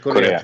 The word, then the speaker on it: Correa: Correa, if am I pronouncing your name right? Yes, Mr. Yes, Korea. North Korea, South Korea.